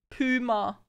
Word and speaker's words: Puma: We say puma in UK. It's not puma? What do you mean puma? Chat, do you pronounce it like puma? No way! It's puma! Puma!